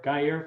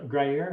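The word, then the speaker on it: Gruyère: be your best bet i'm a big guy guyer fan you know greyer is that how you say it dry air oh yes yes yes yes i would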